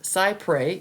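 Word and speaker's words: cy pres: a cypre settlement it's spelled Cy p s pronounced cypre it means trying to get as close as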